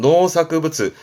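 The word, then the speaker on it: 農作物: 농작물 발음은 노사크부츠. 노사크 모츠보다는 보통 노사크 부츠예요.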